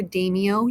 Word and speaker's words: daimyo: those land owners were called the daimyo or Demio you may hear it pronounced like that as well in Europe they are